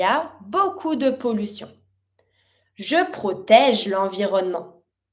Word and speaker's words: beaucoup: Il y a beaucoup de pollution. Beaucoup, finishing with a P, mute. One more time. Il y a beaucoup de pollution.